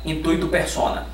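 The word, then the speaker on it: intuitu personae: Se escreve diferente de como se fala, tá? Intuito persona.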